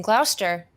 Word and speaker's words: Gloucester: Moving hooch on the road because, of course, you're located in Gloucester.